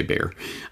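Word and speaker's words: Bayer: out well for buyer it's technically pronounced by her but i'm canadian so i'll say bear bearer santo um in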